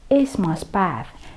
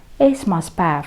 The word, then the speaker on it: esmaspäev: Во-первых, буковка «е» в эстонском языке она произносится не как «е», а как «э». И поэтому вы слышите esmaspäev, esmaspäev, как бы буковка «э», да? Не esmaspäev, и ударение ставим на первый слог, и потом еще на слово päev.